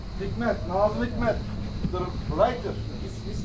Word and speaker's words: Hikmet: Hikmat. Hikmet.